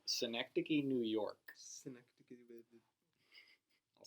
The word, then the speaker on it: Synecdoche: Little movie called Synecdoche, New York. Synecdoche, baby. I'll spell that one out for you.